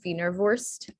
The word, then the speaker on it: Wienerwurst: But some examples for the I-E being pronounced as E is Blitzkrieg, and then Wienerwurst.